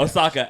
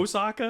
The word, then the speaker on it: Ahsoka: Yeah, that's how you pronounce it in in its original language. In its original language? Ahsoka, absolutely. Um so You said Osaka?